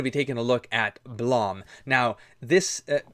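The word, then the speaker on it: BLAME!: I have I literally looked up a YouTube video of a Japanese person pronouncing how to pronounce this uh manga title in English and it's blam.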